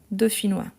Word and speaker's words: dauphinois: Dauphinois. Donc, dauphinois, ça s'écrit comme ça. Dauphinois. Avec PH et noix, N-O-I-S. Dauphinois.